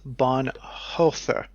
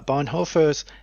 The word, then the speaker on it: Bonhoeffer: theory of stupidity colon we have this hoe it is h-o-e and it's like heifer no I I looked up the pronunciation that's how oh but now I'm being about this they use one of those they use one of those o's with the crosses for it on the pronunciation guide so it's just one of those noises English doesn't have and it's like an